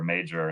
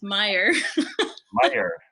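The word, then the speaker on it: Meijer: I was calling the store Major until Greg said, "No, you're an idiot. It's You're Meyer, still not pronouncing it quite right. It's Meyer.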